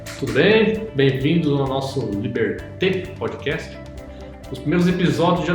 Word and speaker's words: Liberté: Os primeiros episódios já nos serviram de ensinamentos, porque nós falávamos Liberté, e um dos nossos ouvintes já nos deu feedback, em francês a pronúncia é mais adequada, é Liberté.